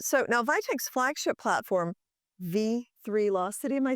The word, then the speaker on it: V3locity: So now Vitech's flagship platform, V3locity, am I saying it right?